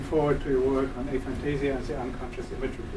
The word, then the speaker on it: aphantasia: Christian Schulz is working his PhD uh on aphantasia um or a yeah aphantasia would be the English pronunciation and so he I don't say much more he's working in collaboration with myself.